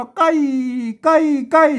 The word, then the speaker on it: ใกล้: มา ตัว ละ ต้อง อ่าน ตาม หลัก ภาษา ล้านนา นะ อ่าน ว่า ใกล้ เสี่ยง ธง พิเศษ แล้ว ก็ มา วัด